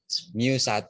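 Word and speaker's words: μ: Mu1 lebih besar daripada mu2. Ini bacanya mu. Bacanya mu yang kayak huruf U. Itu bacanya mu.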